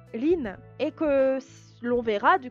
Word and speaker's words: 林: Quand vous avez deux arbres, ça se prononce hayashi en lecture japonaise, ça veut dire un bois. Et la lecture an, du coup, ça sera lin.